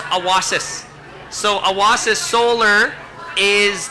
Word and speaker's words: Awasis: was little child and in Cree it's pronounced awasis so awas is solar